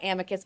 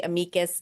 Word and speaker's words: amicus: And by the way, there's multiple ways to pronounce it. I was always taught amicus, but some people say amicus, and Justice Breyer says amicus. So there's no rules.